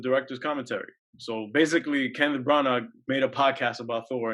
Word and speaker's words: Branagh: I mean not Kenneth Branagh whose name it is Branagh because you know people have yeah they have the the gh at the end of their name you don't pronounce it it's just yeah